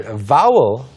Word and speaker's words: vowel: 그래서 사실 vowel, V로 발음하면? Vowel.